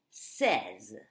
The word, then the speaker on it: says: Okay, be careful. You say, I say, okay, but he or she says. And also in the past, I said, you said, he said, etc.